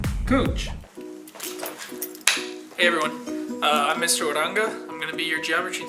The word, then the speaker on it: Uranga: to class everybody my name is mr uranga uh mr urango is this guys gonna be you can call me mr uranga mr uranga mr coach hey everyone i'm mr odanga i'm gonna be your geometry teacher um i